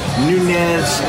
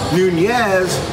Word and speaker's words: Nunez: with our special guests Rakeem Nunez I said it wrong Nunez nacho roaches a server